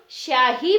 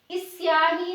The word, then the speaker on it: स्याही: की बात करते हैं इसे हम शाही पढ़ेंगे इसे हम इस स्याही नहीं पड़ते हैं स्वागत बोलते हैं इसे